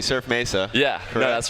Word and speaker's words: Surf Mesa: well thanks for being here so I am pronouncing it correctly surf Mesa yeah corre no that's right and I I